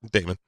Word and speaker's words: Daymond: My name is spelled Daymond like Raymond with a D.